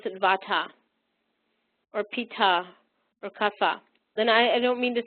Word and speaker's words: Kapha: It's really a PH, P, aspirated P sound, and it does not depend on region. It's pronounced Kapha throughout India because, in